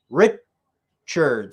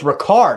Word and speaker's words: Ricard: to be caught by rip churds for five yards it's gonna be second and five oh it's ricard i've been pronouncing it wrong why didn't anybody correct